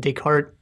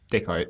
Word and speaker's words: Descartes: going on in this episode is from like Descartes take hearts deep Descartes yeah Descartes apostrophe s to gauge its pronounced they call it yeah Descartes and then